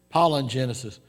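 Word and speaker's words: palingenesis: the greek it is pollen genesis now that's not spell pollen like p-o-l-l-e-n it's spelled p-a-l-i-n i guess if sarah was here she called it palin wouldn't she but uh it's pollen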